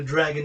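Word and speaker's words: Dragan: nobody is born a dragon not even myself born with a surname dragon pronounced reagan dragon dragon although it's an a n at the end not a no n it's d-r-a-g-a-n born my surname the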